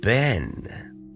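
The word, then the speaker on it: בן: the letter bait and it's going to get a daggish in followed by a noon safet and that is the word Ben we all know the word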